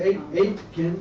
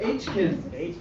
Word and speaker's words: Aitken: People, Gary Garrett, Angelisa Aitken. Angelisa Aitken. Angelisa Aitken. I was wondering whether the T is pronounced. It is.